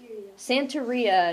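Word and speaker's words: Santería: language actually Jimmy San santoria is how you say that santoria it's a blended religion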